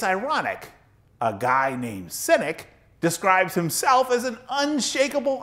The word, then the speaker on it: Sinek: me as ironic is simon's last name sounds like cynic but it's spelled s i n e k the merriman webster online